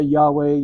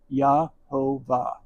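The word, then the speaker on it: Yehovah: Some say Yahweh, Yhovah, Yahovah, Yahava. It's why you were calling, not the pronunciation. So, but it's Yahovah. Yhovah.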